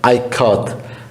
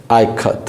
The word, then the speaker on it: Ikat: Next, K-A, ka, K-A, as in Kamala.